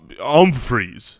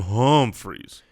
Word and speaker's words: Humphries: that could be okay pronounce that with an uhm freeze for me oh um freeze thank Adam home freeze any other questions from